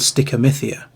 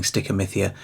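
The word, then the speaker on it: stichomythia: And it's called stickeria which is spelled s t i c h o m y t h i a.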